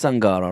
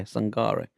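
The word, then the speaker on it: Sangaré: It is Sangara, right? Or am I saying it wrong? Yeah, Sangare.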